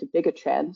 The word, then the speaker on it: dabigatran: So for example, here I'll be using, Mike had pronounced it differently. I call it dabigatran, so I apologize if